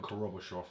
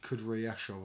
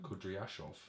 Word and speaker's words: Kudryashov: Brutal knockout of Korobashov, however you pronounce his name. I think Kudryashov or something. Good pronunciation, Dan. Kudryashov.